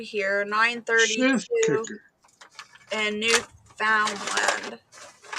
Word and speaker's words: Newfoundland: There's Newfoundland. one. Sorry, I knew. As soon as I said it out loud, I knew I said it wrong. Newfoundland.